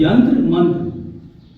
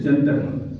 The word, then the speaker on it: यंत्र मंत्र: मंतर नहीं है, उसका नाम है यंत्र मंत्र। संस्कृत का वर्ड है यंत्र मंत्र। उसका नाम जो आम ले मैन, जो आम कॉमन पीपल है, उसका नाम मिस इंटरप्रिटेशन करते हैं, गलत तरीके से प्रोनाउंस करते हैं, उसका बोलते हैं यंत्र मंत्र, उसको बोलते हैं जंतर मंत्र।